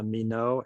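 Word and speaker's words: Minot: blue uh the blue book file for uh mino air force base i don't know how the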